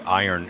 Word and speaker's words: iron: yes similarly you know we say iron you know and I was like yeah the r is silent when you write it